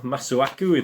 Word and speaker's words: Masuaku: king of the wing arthur masuwaku masuaku that's how you pronounce it but again the layout